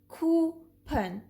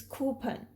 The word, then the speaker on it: coupon: The last is k, oo, ku, p, n, pun, coupon. It's coupon. Now the least common is OU as a sound, as in country, cousin, double.